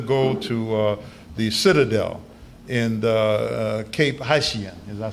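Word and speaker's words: Cap-Haïtien: And when we got there, we had a debate whether to go to the Citadel in Cape Haitien.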